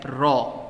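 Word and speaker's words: ρ: इज a symbol and this symbol is pronounced as रॉ आओ सो density is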